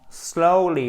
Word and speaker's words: slowly: Slowly but surely. Alors, sure. OK? Et c'est pas slow, c'est slow. Slowly. OK? C'est une diphtongue, c'est un E qui va sur un OU. Slowly. Slowly.